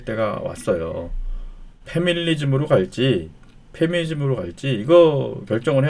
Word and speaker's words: 패밀리즘: 이렇게 말하고 싶은 거예요 패밀리즘 가족주의 페미니즘이 아니에요 발음을 잘 해야 됩니다 요새는이 패밀리즘 가족주의 그룹은